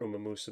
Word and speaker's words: Umamusume: It's a horse from Umamusume or Umeamus. That's how you pronounce it.